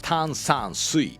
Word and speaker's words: 炭酸水: When you sing 炭酸水, split the word into 3 syllables, 炭酸水, 炭酸水, and pronounce each one clearly.